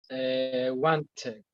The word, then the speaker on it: wanted: Wanted. Wants. Wanting. Good, excellent. Este verbo, como vemos en presente, termina en sonido T, want. Por lo tanto, su pasado tiene el sonido especial, wanted.